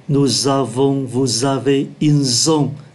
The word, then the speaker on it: ils ont: Ký từ S ở đây phát âm là Z, ils ont.